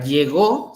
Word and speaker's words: llegó: que la palabra llego no lleva acento. La palabra llegó se convierte en pasado, se convierte en aguda y por lo tanto sí lleva acento en la última.